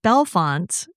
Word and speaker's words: Bellefonte: I had to ask you, and luckily I I watched a Dateline episode on this, too, and they also reinforced that it's Bellefonte, because to me it looks like Bellafonte, and that's how I would have said it.